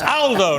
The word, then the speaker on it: Aldo: me up on it's Aldo not Alo is a very British pronunciation of an Italian uh good to see